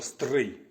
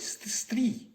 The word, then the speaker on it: Стрий: мого рідного міста місто Стрий до того Я жодного разу не чув щоб якийсь росіянець говорив моє місто Стрий як Стрий Вони всі говорять стрій або Стрий а Стрий саме от перший раз